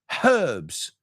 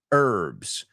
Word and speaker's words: herbs: because time or Rosemary the British call it herbs do you have any herbs in your kitchen and Americans don't pronounce that H we say herbs I made a salad